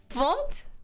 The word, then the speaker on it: fmt: FMT pronounced fumped? Really? Fumped? Oh, really? Instead of FMT?